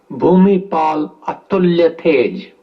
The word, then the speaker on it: Bhumibol Adulyadej: late king of Thailand his majesty Bumi Paul Italia tej that's my way of pronouncing the Sanskrit name Bumi the soil Paul